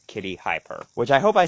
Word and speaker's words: KittyHiPur: pronounce it right because the way I read it I read it as like hyper like the word hyper but I read it as two separate words because of high in